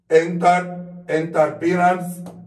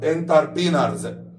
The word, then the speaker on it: entrepreneurs: الستات بقت رجال اعمال entrepreneurs الار دي سايلنت entrepreneurs تمام in our region